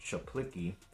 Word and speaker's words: Zaplicki: It looks like C. Zaplicki, but I think it's pronounced Chaplicki.